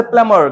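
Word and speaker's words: plumber: है बताइए क्या बी सो वी हैव से प्लमर क्या कहेंगे हम प् प्लबर भैया को आज से क्या बोलेंगे प्लमर गट इट नहीं नहीं प्लबर भी बोल सकते हैं नहीं तो कहेंगे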